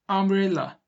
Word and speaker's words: umbrella: U ile başlamış ama A ile devam ediyor bakın. Umbrella. A ile devam ediyor. Fark etmez, U ile yazılmış ama A ile okunuyor.